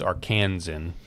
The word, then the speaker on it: Arkansan: You pronounce it Arkansas, but then when you say it, it's Arkansan. Well, a lot of these come from the sports world, like Tennessee.